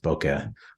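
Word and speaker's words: bokeh: of right away is the Japanese have a term for it that we use and we all pronounce differently I I pronounce it Boke or Boke the way the autofocus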